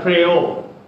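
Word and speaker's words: πραΰς: And the word here in Matthew 5, the Greek word used in Matthew 5 is spelled like our English word pray, P-R-A-Y. But I think so it's pronounced like pray-o.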